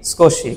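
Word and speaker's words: 少し: সময় কি বলা হয় স্পুন স্পুন একটা আই উচ্চারণ হয় শুরুতে আইস আই কি যুক্ত হয়েছে এস এর সাথে যুক্ত হয়েছে এরকম সুকশি থাবেমাসতা এটা না বলে সকশি থাবেমাসতা এটা একটু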